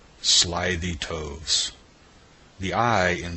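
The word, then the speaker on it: toves: that has often been asked me how to pronounce slyy toes the eye in slyy is long as in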